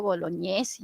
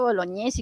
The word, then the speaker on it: Bolognesi: es el ejército pues Francisco bolognesi no Francisco boloñesa y que pronuncia hasta